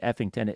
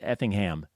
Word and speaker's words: Effingham: mispronounced your hometown E I may have said Effington Effingham yeah it's a funny